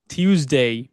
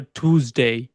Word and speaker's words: Tuesday: দেন টিউসডে। কি হচ্ছে? Tuesday. দেখেন, ব্রিটিশ আর আমেরিকানরা হয়তো বা দুজন দুই রকম ভাবে উচ্চারণ করতে পারে। কেউ বলতে পারে টিউসডে, কেউ বলতে পারে টুসডে। ওকে, বোথ আর কারেক্ট।